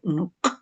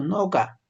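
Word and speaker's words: noqa: No digo nuca, nuca, nuca, no digo así, yo digo noga.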